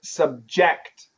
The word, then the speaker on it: subject: And this word has a verb. Where's the stress? Subject. As a verb, subject.